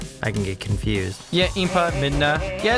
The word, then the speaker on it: Impa: had no idea I thought made no was EMPA but do you see how the I can get confused yeah Impa Midna yeah it's kind of key it's easy